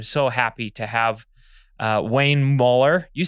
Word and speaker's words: Muller: They always said Mueller, but It's like Bueller, but Mueller, and this is spelled it the same way. But you say Muller.